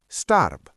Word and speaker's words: starb: For example, starb, which means died, ends with a B sound, but we pronounce it like starb. And Job, yes, that's the same as in English, ends with P. Repeat, starb.